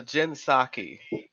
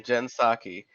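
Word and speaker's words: Psaki: are pretty happy about her yeah it's a jinsaki that's her last name jensaki and you know liberals really love her because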